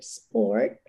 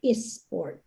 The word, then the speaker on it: sport: most of my participants they will pronounce the s in the first letter of let's say sport they would say esport and skill they would